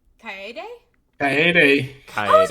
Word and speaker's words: Kaede: Katie? Kaede? Kaede.